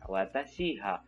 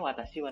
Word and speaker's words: 私は: 私は dia langsung membacanya watashi wa teman-teman. Jadi si vocalizer ini sudah paham bahwa wa di situ adalah sebagai partikel. Jadi dibacanya lagi bukan watashi ha, tapi watashi wa.